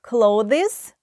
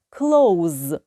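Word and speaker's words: clothes: cloudez одяг до речі Одяг ми можемо вимовляти Як клаудис так і клоуз як дієслово закривати Close обидва варіанти вірні клаудис або close третє хрестик четверте is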